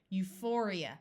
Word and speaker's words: euphoria: before the a neurotic this pH will say F and this I will also have a long e sound Euphoria Euphoria means extreme happiness